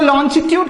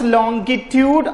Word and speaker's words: longitude: So longitude can be pronounced longitude or longitude. Both are right.